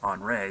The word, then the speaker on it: Andre: the other storm is andre which is you know the french term for henry it's on ray so it's kind of a weird pronunciation but it's the french version um this is going